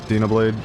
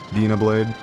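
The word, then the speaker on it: Dyna Blade: Dablade. Danablade. It's Dana Blade for me.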